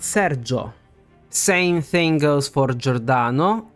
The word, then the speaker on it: Sergio: we've talked about for we don't emphasize the I sound it's just there to turn the g into a j sound but that I is silent so it's not Sergio but Serio same thing goes for